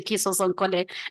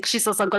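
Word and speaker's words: Kisosonkole: I mean, for the longest time, I was going around saying Kiso Sonkole, and then everyone was saying Kisho Sonkole.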